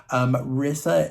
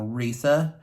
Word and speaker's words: Rissa: Rissa is, I'm sorry, I would say her name wrong. I think she pronounces it more Risa.